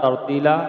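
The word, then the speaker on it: ت: বা এরপরে আমরা শিখবো তা উচ্চারণে আমরা শিখবো কোথায় থেকে এই দুই দাঁতের উপরে ফুসলার সাথে লাগাবো আমরা ফুসলার সাথে জিহবার আগা লাগাবো তা ঠিক আছে এইভাবে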